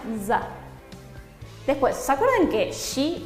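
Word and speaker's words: ざ: Sa con tenten será una za.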